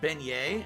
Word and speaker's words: beignet: in all of louisiana i was correct it's pronounced beignet oh cool looks like